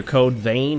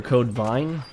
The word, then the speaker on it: Code Vein: It's either Code Vein or Code Vine. It's spelled V-E-I-N. Code Vine, I'm going to call it for now.